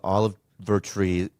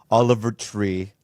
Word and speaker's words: Oliver Tree: was like you know Olive ver tree is Oliver tree I just want to say it right Oliver tree mhm was